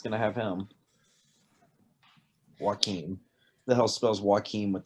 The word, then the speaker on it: Joaquin: Joaquin. The hell spells Joaquin with a J? The J is silent.